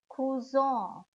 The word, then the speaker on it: Cousin: Now let's come to a word in the German language, a German word, but it has taken the pronunciation from the French language, which is the cousin. Male cousin is cousin.